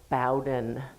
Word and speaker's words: Bowden: Carl Bowden, please take note, they pronounce their name Bowden.